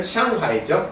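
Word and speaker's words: 上海: 그 제가 상하이에는 예, 원어 발음은 샹하이죠.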